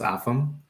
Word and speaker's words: Afam: Most people pronounce it like Adam, but with an F. So that's Afam.